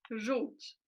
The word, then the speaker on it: Żółć: Então, żółć é com O. Não se pronuncia, não, é Ju com U. Então, é a mesma coisa que aqui nesse lugar aqui fosse um U.